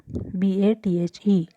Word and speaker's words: bathe: Bath becomes bathe, BATHE. Pronunciation is bathe.